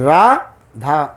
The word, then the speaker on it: Radha: That the two syllables, Radha.